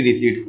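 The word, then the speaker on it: receipt: रिसी है ना budget writ प मत बोलो प साइलेंट रहेगा बटरी रिसी आपने अकाउंट में पढ़ा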